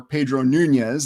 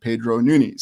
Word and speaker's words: Nunes: as Pedro Nunes or Pedro Nunez. There's many different ways to pronounce the name, but when I looked it up on Portuguese, it said Pedro Nunes.